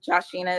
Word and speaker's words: Joshina: Um Joshina is how you pronounce my name.